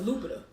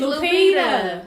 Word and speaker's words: Lupita: I thought it was Lupita. Lupita. Oh God, Sheeta, you butchered everything. It's Lupita.